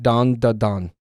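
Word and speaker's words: Dandadan: Its pronunciation is more like dan da dan.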